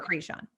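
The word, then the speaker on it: Kreshon: which is krishan but it's pronounced k or it's spelled k-r-e-s-h-o-n and so we get and creshon and i don't even never krishan was always my favorite yeah because it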